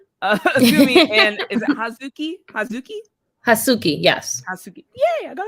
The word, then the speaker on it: Hazuki: Hasuki, yes.